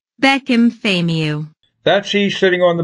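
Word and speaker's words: Bekim Fehmiu: So let's go right to the Albanian translator to pronounce it. Beckham Famiu.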